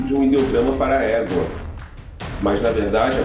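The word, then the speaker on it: 妈: um ideograma para égua, mas na verdade a presença do radical para cavalo se deve ao fato de sua pronúncia ser a mesma da palavra chinesa para mãe, que é ma.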